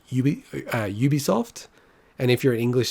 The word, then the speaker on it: Ubisoft: doing this podcast and it's actually mixed it's one of those ones where pretty much it's correct to say ubisoft or ubisoft generally if you're a french speaker you'll say ubisoft and if you're an